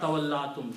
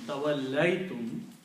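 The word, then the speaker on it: تَوَلَّيْتُمْ: Tawallaytum, it will be pronounced as not tawallatum, tawallaytum, you turned away.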